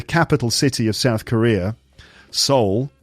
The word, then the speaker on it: Seoul: Seoul. S-E-O-U-L, we pronounce it soul.